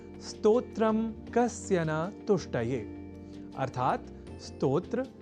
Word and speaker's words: स्तोत्र: यदि हम यह ध्यान में रख लें तो कभी भी स्तोत्र के स्थान पर स्त्रोत्र या स्त्रोत जैसे उच्चारण या लेखन हमारे प्रयोग में ही नहीं रह सकेंगे। अर्थात हमें इस शब्द के उच्चारण की ओर अधिक साकांक्ष रहने की है आवश्यकता ताकि हम आज की प्रवृत्ति या कुप्रवृत्ति के अनुसार इस शब्द से जुड़ी अशुद्धियां ना करें।